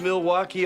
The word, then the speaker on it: Milwaukee: So, do you come to Milwaukee often? Actually, it's pronounced Milwaukee, which is Algonquin for the good land.